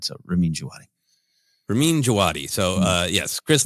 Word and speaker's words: Ramin Djawadi: Ken, what is the proper pronunciation of this? Ramin Djawadi. Yeah, Ramin Djawadi.